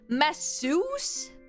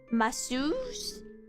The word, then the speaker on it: masseuse: Masseuse? Why do you turn an E-U-S-E as U? Masseuse?